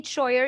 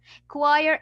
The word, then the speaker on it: choir: is C and H why we didn't say cha no this word it's written in a way and pronounced in a different way so you will not say choer you will say CH choir is a band of